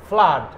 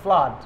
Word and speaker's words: flood: ফ্লাড, FLOOD, ফ্লাড। আপনারা বলেন না ব্লাড, তো ব্লাডের মতন করে ফ্লাডটা বলবেন, তাহলে উচ্চারণ। অনেকে ফ্লাড বলে ফেলেন, ফ্লুড না, ফ্লাড।